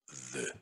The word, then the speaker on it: veut: Э, У дифтонг произносится как звук Э.